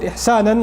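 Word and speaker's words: إحسانا: And it's mansoob, the fatha on it, ihsanan, like that, it's pronounced like that, ala al-ighra'.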